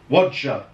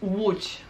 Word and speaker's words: Łódź: I told you, when you have a D and Z with the funny thing on top, it's J. Łódź. Almost, yeah. It's Łódź. Łódź. Łódź.